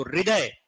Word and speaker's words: हृदय: ये हर हर इसको उच्चारण में हम ह को बहुत कम और र को थोड़ा बोलते ज्यादा तो इसका उच्चारण होता